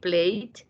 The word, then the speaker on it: played: Ese ED se escucha como una T, played.